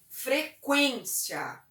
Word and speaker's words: frequência: Porque o trema, ele traz um certo tremor na voz, né? Frequência. e não frequência. Que e que, né? Frequência, frequência. Linguiça, linguiça. Então a gente percebe que a presença do trema, ele faz a pronúncia tremer.